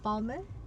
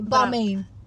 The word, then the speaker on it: Balmain: I would say Balmain. Because it's like my man.